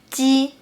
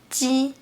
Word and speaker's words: 鸡: The difference between 鸡 and qi is that qi is aspirated and ji is not.